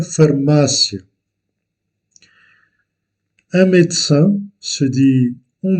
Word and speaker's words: farmácia: L'accent est placé sur le deuxième A ou la deuxième syllabe. Uma farmácia.